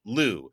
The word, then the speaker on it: Liu: And I'm told this is the only way to pronounce it. Lou, please present your opening statement.